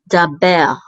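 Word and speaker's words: דבר: It says da right here, and then we have a bet with its tzere, which says and then the resh all together will say ber. Daber.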